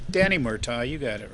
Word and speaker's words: Murtaugh: It was Danny Murtaugh's year, or however the hell you pronounce his name. Danny Murtaugh, you got it right.